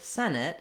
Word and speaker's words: Senate: so first of all the word Senate has first syllable stress which means the sen syllable is long and it has the clear vowel this has the same